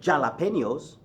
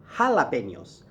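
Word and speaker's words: jalapeños: You don't ask for jalapenos, you ask for jalapenos.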